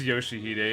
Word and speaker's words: Yoshihide: Oh, so it is Yoshihide, and everybody's just been reading her name wrong.